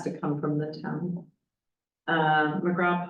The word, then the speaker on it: McGraw: McGraw Pond, see, I said that right. I want to call it McGrath.